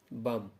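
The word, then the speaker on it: balm: এই ভিডিওটির মাধ্যমে আমি আপনাদের সামনে কয়েকটি শব্দ তুলে ধরব যেই শব্দগুলিতে এল বর্ণটি সাইলেন্ট হিসেবে ব্যবহৃত হয়েছে। চলুন দেখে নেওয়া যাক। প্রথম যে শব্দটি আছে বাম, যার অর্থ হলো সুগন্ধ পদার্থ।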